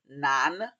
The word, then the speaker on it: 男: And uh by the way this character if you're wondering it's pronounced nan nan right like nan bread you know the Indian bread nan and um I think